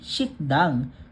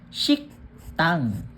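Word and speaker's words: 식당: So 'pag binasa dapat hindi shikdang, magiging shiktang.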